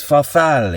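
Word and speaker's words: farfalle: up the pasta and the way you pronounce it is fafal is that right Steven FF fafal we've got to kind of exaggerate the Italian pronunciation of the the F bit I guess fali is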